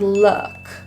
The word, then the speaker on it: look: The double O in the word look, or looking, is an upsilon sound. It is very neutralized with slight protrusion of lips, rather than oo, loo, but more of a l. If you think of your lips as being open, that's the sound we're going for, look.